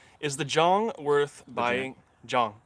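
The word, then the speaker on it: Jang: Oh, is that how it's pronounced? Yes, oh, wow. Yes, I've been wanting to correct many people on that. Yeah, I lived in Korea for a couple years. My wife's Korean, so she told me that is how you say it.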